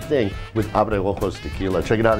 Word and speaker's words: Abreojos: Abreojos Tequila.